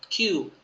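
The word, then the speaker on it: 九: กับ คุ นะ ครับ Q กับ คุ แต่ อ่าน ว่า Q ดี กว่า นะ ฮะ นิยม ใช้ มาก กว่า คุ ก็ คล้าย ๆ กับ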